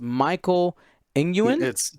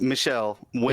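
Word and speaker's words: Michelle Nguyen: Now we'll go to our other top 4 match, and that was, I believe it's pronounced Michael Nguyen. it's Michelle Win.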